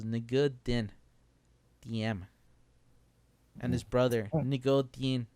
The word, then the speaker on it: Ngo Dinh Diem: I think in that language the first name is the last name, so it's Ngo Dinh Diem and his brother Ngo Dinh Nhi.